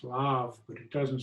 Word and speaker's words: Le Havre: The H is not pronounced, it's Le Havre, but it doesn't sound great.